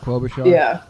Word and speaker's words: Klobuchar: How do you pronounce her last name? Klobuchar.